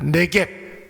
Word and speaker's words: 네겝: 네겝 이렇게 발음하기도 하는데, 이 말은 여러분 광야, 황무지, 사막 이런 뜻이 있습니다.